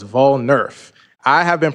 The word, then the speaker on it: Volnerf: And I put the pronunciation up there, but it's Volnerf, like voting and Nerf ball. So, it's Volnerf.